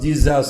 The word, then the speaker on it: Jesus: On prononce Jesus.